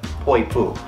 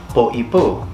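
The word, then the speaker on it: Poʻipū: the southern area, is Poipu, because it has the okina over the top of it, which separates the word, and the meaning of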